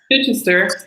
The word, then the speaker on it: Chichester: Chichester, yes.